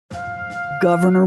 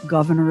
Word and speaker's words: Gouverneur: boy was christened governor pronounced like the elected office but spelled like a fancy French cheese again your old money at work Morris's grandfather served as the British governor of New Jersey his